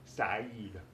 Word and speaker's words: Saeed: Eid al-Hub Saeed. Saeed rhymes with Eid.